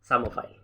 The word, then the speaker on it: psammophile: इसमें P silent है, अगर मैं इंग्लिश में बात करूँ तो ऐसे लिखा जाएगा PSAMMOPHILE, सामोफाइल, ठीक है जी।